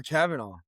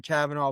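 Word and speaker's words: Kavanagh: But moving on, Brennan Royval versus Loner Kavanaugh. I found out it's pronounced Loney, not Loner.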